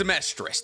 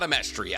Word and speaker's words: Amestris: Just realize it's Amestris, not Amestria. I've been saying it wrong this entire time.